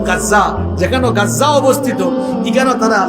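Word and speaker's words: غزة: এগুনতে মানচিত্র আখতে গিয়া বর্তমানে ফিলিস্তিনের গাজ্জা যেখানে আপনারা গাজা কন আরবির উচ্চারণ হইলো গাজ্জা।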